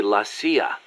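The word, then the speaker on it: la CIA: around here they say lacia instead of CIA huh nothing strange about it that's how it's pronounced when you read it in Spanish it has the feminine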